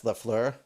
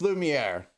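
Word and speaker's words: Lumière: And this is I always get his name wrong, but I think that's Lafleur. Lumiere, it's Lumiere. Lumiere and Codsworth, and Maurice, and Bell, and Kit Fisto, and yeah.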